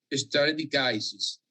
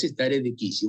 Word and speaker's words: stare decisis: algún lugar stare decisis, si la pronunciación es inglesa o norteamericana, va a decir stare decisis, pero en realidad es como infine, no es infine, es infine. Son términos latinos. Y acá es stare decisis.